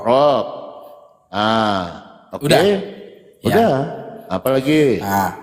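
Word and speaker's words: رب: Berarti bacanya roh. Rab. Rabb.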